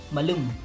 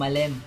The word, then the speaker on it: malem: Yung mga talagang Ilocano, ang talagang pronunciation niya is malum. Yan. Pero pag meron din naman yung mga talagang malambot na Ilocano, yung malem.